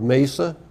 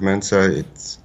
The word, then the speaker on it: Mensa: Now, I understand you're a member of Mesa. Not Mesa. Mensa. Mensa. Mensa. I was not saying it right.